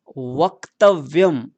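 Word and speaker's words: वक्तव्यम्: वक्तव्यम, आधा क है, क को आधा रखेंगे और व भी आधा है तो व को भी आधा रखेंगे बोलते समय।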